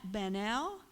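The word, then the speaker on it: Baniel: It's by Annette Banel. Her name is spelled A-N-A-T. Last name is like Daniel, only with a B, B-A-N-I-E-L.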